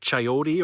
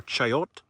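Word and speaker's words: chayote: It's called a coyote. Sometimes it's pronounced chyote or chiote.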